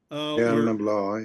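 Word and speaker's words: Béal na Bláth: I'm going to mess up the pronunciation. Belnabla. Belnabla, yeah.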